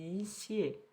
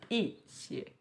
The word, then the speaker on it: 些: O pinyin para xie, desse jeito que a gente tá vendo aqui, xie, ele tem que ser... Ele é pronunciado em primeiro tom, né? O xie. Mas quando a gente tá usando ele nessa estrutura, como alguns, algumas, ele vai mudar para xie.